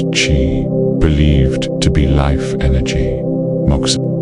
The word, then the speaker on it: qi: Puncturing the skin to balance qi, pronounced qi, believed to be life energy.